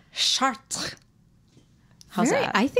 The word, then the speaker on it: Chartres: How is it pronounced? Chartres.